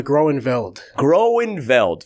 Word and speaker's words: Groeneveldt: need the right pronunciation it's uh Gro and Gro and veld from the Dutch grow ands am I right